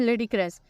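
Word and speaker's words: ludicrous: लिए आपको ये भी समझ लेडी क्रस इसे प्रोनाउंस कैसे करना है लेडी क्रस और डिस्पोजेबल वो तो सिंपल है लेडी क्रस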